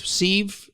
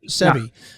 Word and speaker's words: Sebi: The first friend you hooked up with, Steve, is that the pronunciation? Sebi. Yeah.